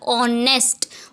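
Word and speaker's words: honest: जबकि जब हम इसे बोलते हैं तो इसका साउंड वोवल होता है, एच जो होता है वो साइलेंट होता है, ओ से स्टार्ट होता है, ऑनेस्ट।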